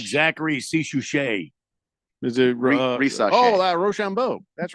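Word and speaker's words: Risacher: Rochambeau? That's right. There it is. It's Really not how you official.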